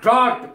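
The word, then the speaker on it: draught: इसका ड्रॉट उच्चारण है she drank the टी इन वन ड्रॉट, वो एक घूंट में पानी पी गई।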